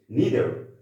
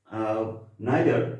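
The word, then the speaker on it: neither: আর একটা দেখি নিদার, এটা নিদারটা হচ্ছে কারেক্ট প্রোনাউন্সিয়েশন। নাইদার, এটাও কারেক্ট প্রোনাউন্সিয়েশন। অর্থাৎ এই দুই প্রোনাউন্সিয়েশন দুইভাবে যদি আমরা এই ওয়ার্ডটাকে প্রোনাউন্স করি, কারেক্ট।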